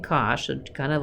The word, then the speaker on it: cosh: So the derivative of sinh is cosh, like this is how you say it, sinh and cosh, so kind of like just the derivative of sine is cosine.